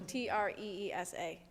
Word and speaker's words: treesa: It's spelled TIKTOK, and my username is mother.treesa, like trees. So TREESA.